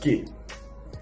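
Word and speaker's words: qué: c'est bien le quoi le quoi qui va se dire que donc ça s'écrit Q u e accentonique le quoi bon je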